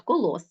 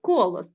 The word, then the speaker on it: Колос: тому не можна казати якщо мова йде про Колос Родоський то ми наголос ставимо на останній склад Колос а не Колос Отож Петрик не правильно